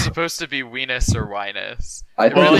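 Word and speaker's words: Wienis: I wasn't sure if that was supposed to be Weenus or Winus. I It think really it's doesn't Wine. sound good in the- either way. In the audiobook, they pronounced it Weenus, and I was like, Oh, cool.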